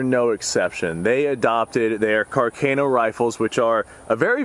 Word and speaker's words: Carcano: sporterized this right here I believe is a sporterized 1891 Carcano or Carino or however it is that you'd like to pronounce it I'm going to pronounce it Carano simply because that's how a majority of people pronounce it but I've been told that is incorrect now after smokeless powder had